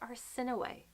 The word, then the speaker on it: Arceneaux: by Kate Mulgrew and it is pronounced our sin away it makes it sign so much nicer than Arceneaux our sin away it